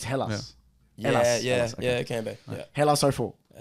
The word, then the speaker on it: Hellas: I think you can spell it either way. I think if you go by the Greeks, it's spelled E first, though. I think if you write it in English, it comes out with a H. So it's Hellas.